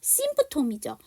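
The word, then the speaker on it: symptom: 증상이라는 심프톰이죠. 근데 MPT이기 때문에 P 발음을 안 한 거죠.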